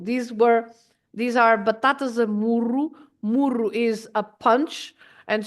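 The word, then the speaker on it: muro: that's Bates amuru okay not to be confused with muru because muru is aide uh um an outside wall around your garden for example you can have a wall around the garden and that is muru with one R and muru A Punch Double R so and of course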